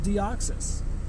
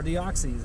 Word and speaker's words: Deoxys: Not even new EX raid system, just a new Pokemon that's coming for EX raids is Deoxys, or Deoxys, however you want to pronounce it. But I like Deoxys, right?